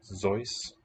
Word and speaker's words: Seuss: By the way, have you ever heard that Dr. Seuss wanted it pronounced Zeus?